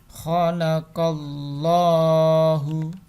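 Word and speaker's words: خلق الله: Nah, jadi ketika ada lafal Allah didahului dengan harokat fathah maka bacanya tebal. Jadi khalaqallah. Kalau kasroh, contoh ya, ini contoh kalimatnya kurang benar tapi ini contoh. Khalaqillah. Nah, qillah dengan khalaqallah kan beda. Nah, ini khalaqallah ini karena dibaca tebal karena sebelum huruf Allah ada harokat fathah.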